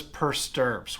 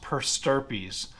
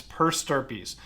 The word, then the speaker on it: per stirpes: looks like it says per stirps well it's pronounced per stirpies like stirred peas like i'm stirring my peas just but it's per stirpies and what that means